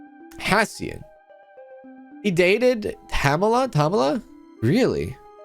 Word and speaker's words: Hassian: interesting that's how you say his name is hassian hassian he dated Pamela Tamala really I think he